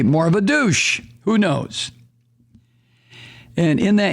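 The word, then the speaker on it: Dush: Well, how would you pronounce D-U-S-H? Senator Douche.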